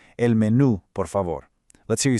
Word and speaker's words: menú: Spanish, el menú por favor. Make sure you place a really strong emphasis and accent right there on the U at the very end of menu. El menú por favor.